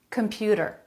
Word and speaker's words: computer: computer computer they're all saying that with a flap comput a flap instead of a t sound computer middle syllable stress if you can add